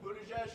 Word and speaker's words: Buttigieg: I'm now going to ask each candidate to introduce themselves, starting with Mayor Buttigieg. All right, guys, so my name is I'm the former mayor of South Bend, Indiana. I'm Pete Buttigieg.